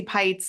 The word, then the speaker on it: Pites: am I I'm pites my last name rhymes with lights I once upon a